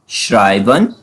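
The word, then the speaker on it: schreiben: Fifth sound जो है हमारे पास एस सी एच जो है हमारे पास एससी एच जब भी जर्मन में आते हैं वो साउंड करता है शे जैसे एग्जांपल एग्जांपल से समझते हैं। श्राइबन श्राइबन श्राइबन मींस टू राइट करना।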